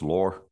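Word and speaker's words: Lurr: I'm calling the word the world lur l u r r maybe pronounce lore um in this world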